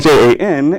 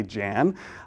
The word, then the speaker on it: Jan: His name is spelled Jan, and as you can imagine, a lot of folks read that and they say Jan.